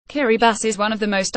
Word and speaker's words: Kiribati: The 33 islands of Kiribati, pronounced Kiribati, are extremely shallow.